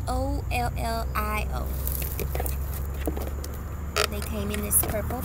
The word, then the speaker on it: Ollio: I don't want to mispronounce their name, but it's Ollio.